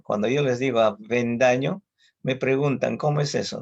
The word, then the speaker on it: Avendaño: Por algo se dice dentilabial, o la V es dentilabial, o sea, los dientes van con los labios inferiores para pronunciar la V. Yo me apellido Avendaño. Cuando yo les digo Avendaño, me preguntan, ¿cómo es eso, no?